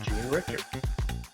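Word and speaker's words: Jean Richer: parallx Mars Parx Mars no his name is Jean Ricker Jean Ricker spelled like a woman Jean j e a n r i c h e r being Ricker you didn't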